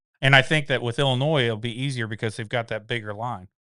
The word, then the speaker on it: Illinois: And we got Illinois.